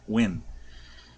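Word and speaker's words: Nguyen: my videos you'll understand when is spelled kind of funny in vietnamese it is n-g-u-y-e in i don't know and they say it they pronounce it when uh and a matter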